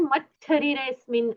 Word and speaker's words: मच्छरीरे: उदितो मरे म शरीरे देखिए मन में आपको ये रखना है मत शरीरे ऐसा है यहां पर लेकिन जब हम मत्स शरीरे का फटाफट उच्चारण करते हैं तो उसका उच्चारण मत शरीरेस्मिन ऐसा होता है ओके मन में मत् शरीरे ध्यान में रखिए और मत शरीरे बोलिए उते मरी जिेंद्र जी